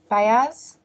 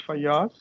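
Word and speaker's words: Fayaz: after shadrach i have is it fires did i pronounce that right i'm really sorry akira no you have pronounced it right my name is fayas good morning everyone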